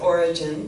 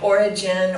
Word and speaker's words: Origen: And some people pronounce it Origen, but it isn't. Anyway, Origen, Origen.